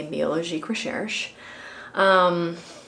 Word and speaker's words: Biologique Recherche: I know I've been saying it wrong this whole time, so I'm going to correct myself and say Biologique Recherche.